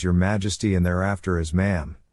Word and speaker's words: Ma'am: When conversing with Elizabeth, the correct etiquette was to address her initially as Your Majesty and thereafter as Ma'am, pronounced, with a short A as in jam.